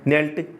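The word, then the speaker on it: kneel: नील यानी घुटने के बल झुकना, नेल्ट नेल्ट। इसमें के साइलेंट है, के को बोला नहीं जाता, सीधा नील बोला जाता है।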